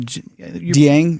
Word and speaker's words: Dieng: Dieng, yeah.